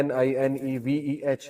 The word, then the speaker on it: Nineveh: نینوا اس کا تلفظ ہے NINEVEH.